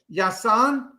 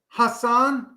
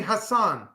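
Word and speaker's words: Jasson: um is is prob how do you say in Spanish yasan Hassan probably Hassan yeah because like Jose is with a J so it's G be Hassan maybe it's Hassan Dominguez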